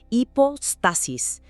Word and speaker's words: hipóstasis: O hiposis, pronunciado con esa h suave, casi muda, hipostasis.